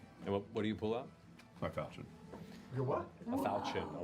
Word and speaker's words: falchion: It's pronounced falchion.